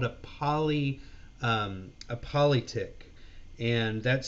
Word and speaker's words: polyptych: It's called a politic, and that's spelled POLYPTYCH.